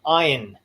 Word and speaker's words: Ayn: Yeah, and even Ayn Rand. People go, Ayn Rand. I did it, yeah. Ayn Rand. One of my best friends like, hey, Ayn Rand this. I'm like, it's Ayn.